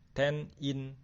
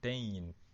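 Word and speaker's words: 店員: Tein. Ten-in, tapi dibacanya biasanya tein. Gitu.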